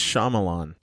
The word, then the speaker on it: Shyamalan: at it right now I've been saying his name wrong this entire time it's Shyamalan Shyamalan Shyamalan this is saying it